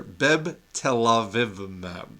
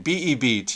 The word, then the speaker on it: Bebtelovimab: Bebtelovimab. Telovimab. I keep wanting to put an extra syllable in it.